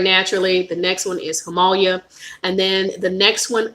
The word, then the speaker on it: Himalaya: Least expensive than that is Himalaya. Or it's called, a lot of us say Himalaya, because I said that forever until a representative told me I was saying it wrong. So it's Himalaya.